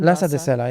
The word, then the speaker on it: Lhasa de Sela: Is that how you pronounce her name? Lhasa de Sela, yeah.